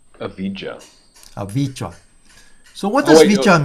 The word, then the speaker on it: avijja: So if you look at the Pali word for ignorance, is avijja. Okay, so it's made of 2 words, very important, and I put a little dot in between. I've heard it pronounced avijja.